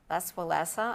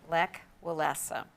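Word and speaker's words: Lech Wałęsa: that union with um les valesa i know i'm saying his name wrong can you say it lek is the first name lek welassa there you go and he was a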